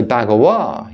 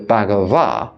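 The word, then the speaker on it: Bhagavā: the way I do and say bagawa instead of Bava is because I'm used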